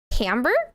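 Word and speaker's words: timbre: You like my um what's called tamber. A tambber is spelled like timber but the r is before the e.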